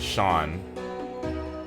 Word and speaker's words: Seam: The name's Seam, pronounced Sean.